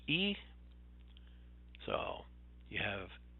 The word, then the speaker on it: y: The main one you're going to see is actually Y, but it's pronounced E.